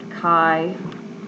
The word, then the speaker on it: chi: That's read chi, okay, like in K. Oops, my pen isn't working. So, I don't know how you, chi is how you say that.